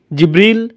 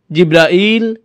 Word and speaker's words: জিবরাঈল: উচ্চারণ করেন তার নাম জিবরীল জিব্রাইল জিব্রাইল জিব্রাইল জিবরীল এই পাঁচভাবে তার নাম উচ্চারণ করা হয় আর এটা বিভিন্ন কিরাতের